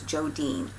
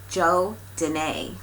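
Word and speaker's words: Jo Danae: hands-on design ornaments and I said her name was Joe Dean but if I try to explain how to pronounce her name and I believe it's Joe Danae so I hope I did it right that time she sent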